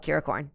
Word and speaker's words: Kirakorn: you're talking about yeah that's how it's spelled curacorn yep like unicorn except with my name that's where it comes